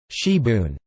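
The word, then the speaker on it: sibwn: Wales, known as spring onion or gibbon, also known in South Wales as sibone, pronounced shiboon, from the French cibo.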